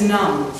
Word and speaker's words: numb: yeah it's um yeah my gum is numb yeah and it's spelled the b is silent you